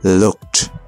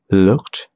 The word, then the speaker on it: looked: But a lot of time, the E is not pronounced. Looked. Asked. Played. Baked. Wrapped. Now, they can be a little bit tricky. So, let's do it again. Looked.